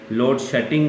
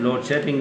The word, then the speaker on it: लोड शेडिंग: और यही मसला जो लोड शेडिंग का होता है, जो शेड होता है जिसको लोग शटिंग कहते हैं, लोड शटिंग कहते हैं. Simply don't pronounce it इज लोड शेडिंग, this लोड शेडिंग and this a clean बाउल्ड.